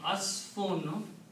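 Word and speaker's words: عصف: So the next word is ain, swad, and fa. Asafa. Asafa, when you combine these and make it sound like asfun, asfun means straw.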